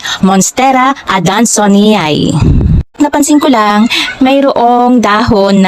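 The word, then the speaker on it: Monstera adansonii: sa halaman na ito ang sabi ko kasi noon monstera ad danon ang tamang pagbigkas pala ay monstera adonay Napansin ko lang mayroong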